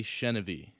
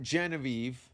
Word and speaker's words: Chenevey: Oh, it's Chenevey. That's how it's pronounced. Great. We're going to start recording now. Hey, this is Jason Rouse, and welcome to the Safe Word Podcast. Welcome. not Genevieve. Not Genevieve. No. Not Genevieve. Chenevey.